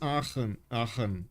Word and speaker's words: Aachen: I'm not sure if it's a Shen or is it Aachen, because you know, German pronunciation and stuff. Germany looks so strong. Yes it does. Yes it does. One hit wonder for sure. Yeah. Second one was perfect. Okay, it's Aachen.